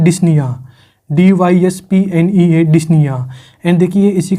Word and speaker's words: dyspnea: एंड इसके लिए एक क्लिनिकल टर्म यूज करते हैं जिसे हम बोलते हैं डिस्निया, DYSPNEA, डिस्निया। एंड देखिए इसी के नीचे मैंने एक स्पेलिंग और लिख रखी है, यहाँ पे मैंने ओ को एक्स्ट्रा लिख रखा है।